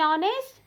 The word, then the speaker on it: honest: In honest, H is also silent, so we have to use an honest, etc.